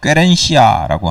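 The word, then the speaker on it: querencia: 준비하면서 처음 설교 제목을 케렌시아라고 정했었어요 케렌시아라고 들어보셨어요 원래 스페인어인데 원래 발음으론 꽤렌시아라고 하는 말인데 요즘 동물학대 논란으로 그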